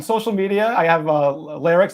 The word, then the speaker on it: Lerrix: on Instagram l-e-r-r-i-x the the Name Lyrics came from squirrel backwards phonetically the word square if you took this word scroll and flip it all right it kind of sounds like lyrics I like squirrels um